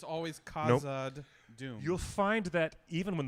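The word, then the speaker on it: Khazad-dûm: u h not a k zod but a khazad doom um when you pronounce nevada everybody needs to remind themselves that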